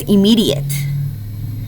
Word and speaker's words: immediate: It is immediate. How many syllables does immediate have? I-me-di-it. 4 syllables. Please listen carefully for your thing to spell. Im-me-di-ate. Please say that with me. Im-me-di-ate.